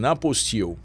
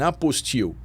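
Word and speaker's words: apostille: certificate with an an aposto right that there are two pronunciations an apost or an apple Ste and uh you cannot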